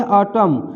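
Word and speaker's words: autumn: जैसे यहाँ पे देखिए ऑटम, तो यहाँ देखिए एम के बाद एन है तो एन साइलेंट हो जाएगा, इसको सीधे ऑटम पढ़ेंगे, तो ऑटम माने शरद ऋतु होता है।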